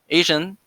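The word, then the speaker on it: ASEAN: the association of southeast asian nations or for short a-s-e-a-n which i'd like to pronounce asian because it's looks very similar similar so asian was one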